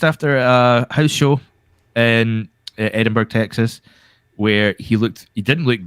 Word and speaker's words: Edinburgh: I mean, you would know about Edinburgh's, right? I know. You say it wrong. For a start, it's Edinburgh, but I suppose you take the H out of it at Pittsburgh, but that makes sense.